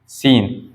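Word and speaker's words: scene: सी ई एन ई तो यहां एस और सी को दोनों को हमने दोनों का स का सांड निकलता है देखो हमने पढ़ा था कि स का भी साउंड सा निकलता है और एस का साउंड भी सा निकलता है इन दोनों को सा सा हम दोबारा बोले ऐसे कहेंगे क्या नहीं इसलिए इसको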